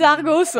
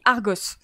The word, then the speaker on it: Argos: Alors, d'après Melvac, ça se prononce Argo. Mais moi, je le vois toujours écrit Argos. Donc, moi, j'ai la prononciation britannique. Moi, je dis Argos. J'ai jamais entendu Argo. Donc, moi, j'ai toujours entendu dans mes cours et dans mes labos Argo.